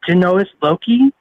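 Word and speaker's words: genius loci: going to try to say they called it genoa's loki i'm going to spell it it's g-e-n-u-s space l-o-c-i um and that's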